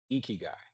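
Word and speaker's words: ikigai: this word down please eeky guy and if I've mispronounced it for anyone on the call please forgive me I'm trying my best but if you can say like it's I Ki G AI something to live for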